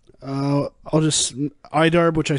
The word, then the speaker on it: IDARB: so I stop playing right uh I'll just idarb which I said which is actually probably the